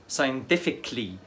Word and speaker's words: scientifically: الكلمه رقم 13 scientifically كلي، الاي مش هتتنطق scientifically بطريقه علميه.